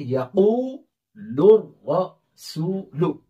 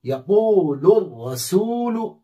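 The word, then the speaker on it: يقول الرسول: या जबर या, कौफ वाव पेश, कू कौन सा मद होगा? वाव मद्दा, वाव साकिन से पहले पेश है। और लाम रा पेश, लुर, रा जबर रा, क्या बना? लुर। सीन वाव पेश, सू, यक़ूलुर रसू, लाम पेश लु, यक़ूलुर रसूलु।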